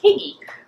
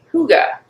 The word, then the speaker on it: hygge: about what it what looks like it should be pronounced higgy but it's actually hygge it's the danish art